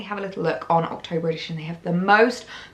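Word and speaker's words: Octobre: I can never say it properly. It's like October. I always want to say it with a br. October edition, which is like the men's version of Sezane.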